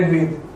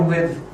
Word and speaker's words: Rigved: The passage to reach there, a hint is given in the Rigved or Rigved. There is slight difference of pronunciation in north and south. In north it's Rigved and south is Rigved.